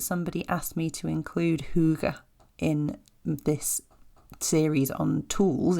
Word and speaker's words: hygge: forward to pronouncing it it is spelled h y g g e so in my head for long time it was Hig it's a Scandinavian word it is Huga I may be pronouncing that terribly I apologize but I